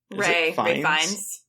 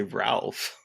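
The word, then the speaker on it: Ralph Fiennes: Ray Fiennes. Oh, is it Ray? Why did I say Ralph? I think it's Ray Fiennes. It's like, so it's weird. It's like, you don't pronounce it like Ralph.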